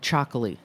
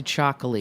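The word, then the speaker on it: Txakoli: me yeah I do I really like um chaki I'm like back into chaki you have to spell that for everyone t x a k o l i Chi is the grape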